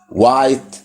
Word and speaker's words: white: حرف الاتش ممكن يجي وما يتنطقش، وعادة لما بيكون قبليه حرف الدبليو، وعادة برضو هتلاقيه في أدوات الاستفهام اللي هي question words، أدوات الاستفهام أو كلمات الاستفهام. زي إيه؟ زي what, when, where, why. هتلاقي هنا الدبليو بتتنطق، الاتش ما بتتنطقش.